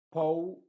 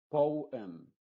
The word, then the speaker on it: poem: No es no ni go, sino go, no, so, ago, pro, oh, por ejemplo, oh, poem, poem. Es decir, acá esta O y la E se están pronunciando de forma independiente.